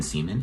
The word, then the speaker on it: Seaman: hey everyone i'm seaman and i am a cartoon television writer and yes seaman is how you say my last name and yes middle school